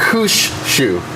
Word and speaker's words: Mushushu: Mushushu. Yeah, it's really hard to say. I thought it was four. Mushushu. Okay, 3 syllables.